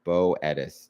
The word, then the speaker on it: Boethius: Second pronunciation, Boetis.